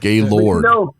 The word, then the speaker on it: Gaylord: can't say it's the French pronunciation because it's not. There's nothing. It's O-R-D. Ord. Gaylord. But you know, Bob Adam Brothers got things together there.